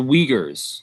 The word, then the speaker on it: Uyghurs: in china known as the uyghurs that's how you pronounce that it's a little hard to pronounce if you look at it the uyghurs the uyghurs